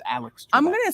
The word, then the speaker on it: Alex Trebek: I always thought it was Alec Trebek, but it's Alex Trebek.